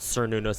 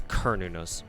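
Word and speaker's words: Cernunnos: sir nunos or kernel it's it's a hard C it's a hard to see because uh Celtic uh Celtic Indica I believe the Celtic language doesn't doesn't have soft seeds so it's not Sur nunos it's kernunus the hard with the hard C did you get Oberon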